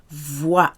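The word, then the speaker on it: voit: either L or L voix en T is silent with verbs so all you hear is the voi what ll1 like the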